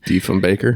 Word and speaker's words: Diefenbaker: Diefenbaker.